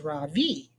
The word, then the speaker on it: Ravi: he introduced himself earlier i am pretty sure that he said his name was ravi with the accent on the second syllable as i reached down